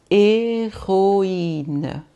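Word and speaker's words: héroïne: em seguida, o i é o a, mas se o i está com trema, ele volta a ser o i de novo, tá bom? Então aqui eu vou lerína, tá? Heroína, que é heroína.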